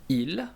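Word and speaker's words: ils: minute um we have IL which is they for males and we have L which is they for females and they have an S at the end but we do not pronounce them so I repeat v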